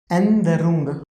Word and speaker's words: Änderung: Änderung. A like A mit umlaut is A, no is like no, DE. See here we are skipping pronunciation of E as exception.